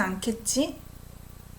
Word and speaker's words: 않겠지: So first one, 또 물어보진 않겠지? I pronounce it as K sound.